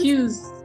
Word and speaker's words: Hughes: Am I pronouncing it correctly? Dr. Hughes. Hughes.